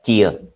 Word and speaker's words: tier: TIER is pronounced as ടിയർ. അതായത് TEAR എന്നുള്ള ടിയറിൻ്റെ അതേ പ്രൊനൗൺസിയേഷനാണ്. കണ്ണുനീരിൻ്റെ അതേ പ്രൊനൗൺസിയേഷനാണ് TIER.